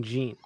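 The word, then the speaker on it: Zeen: less confusing this guy's name is technically zine but they don't have that sound in Japan so it ends up being Gene bye Chris he disliked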